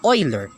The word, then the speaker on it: Euler: e which stands for the Euler's constant it's pronounced as Euler this is known as the natural logarithm and